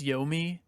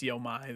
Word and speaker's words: Yomi: um but also i turns out i was pronouncing trek to my incorrectly evidently it is yomi oh you made me look like a jackass i still think it's yo mai though but whatever it's the